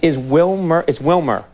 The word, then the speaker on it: Wilmer: Is Wilmer? Am I pronouncing it correctly?